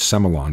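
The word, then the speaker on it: Sémillon: svon Mero svon Blanc seon that you may hear pronounced semon by some Australians and P Noir following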